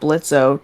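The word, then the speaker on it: Blitzø: Yeah, I also like that they brought Blitzo to help Fizzaroli and Ozzy during that episode. Yeah, you're dead naming him. Yeah, I'm used to saying Blitzo. Yeah, Blitz. The O is silent.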